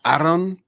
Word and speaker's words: Aaron: Are you going to be Aaron Pico when you go over there? Will you play that off, or like how does that work? Well, Aaron is how you say it.